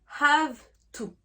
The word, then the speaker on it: have to: Mais le verbe have to, eh bien on ne fait pas un son en V, mais en F.